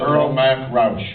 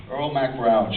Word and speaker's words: Earl Mac Rauch: The writer, how do you pronounce the writer's name? I've never known how to say it. Earl Mac Rauch. Earl Mac Rauch.